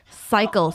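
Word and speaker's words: Psycle: The other day I did a class, a spin class that was Coachella themed at Cycle, spelled Pacycle. And Wait, spell it.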